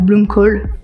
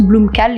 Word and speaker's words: Blomkål: et on devient bah bloomcoal pour les puristes BL parce que c'est un nom danois suédois et le a avec le petit ha se prononce h si on est puriste bon en tant que bon français on dit on dit tous Bloom cal ici donc c'est pas